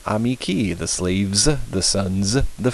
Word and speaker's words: amici: nominative plural ending is the letter i' with a long mark pronounced e as in seared we fill ee amici the slaves the sons